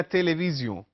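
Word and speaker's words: télévision: सो उ ए ला तेलीविजन ओ यू एल A then T ई एल ई वी आई एस आई ओ एन जैसे हम अंग्रेजी में प्रोनाउंस करते हैं उ ए ला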